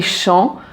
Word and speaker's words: Champs: ici dans les ChampsÉlysées tu as deux lettres muettes donc tu as le P et le S qui sont muet donc les on prononce pas le S ici et chant donc tu as le P qui est muet ensuite ite ici dans